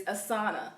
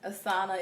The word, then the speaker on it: Asana: The next one I'm going to get into, number 2, the second app, is Asana. That's spelled A-S-A-N-A.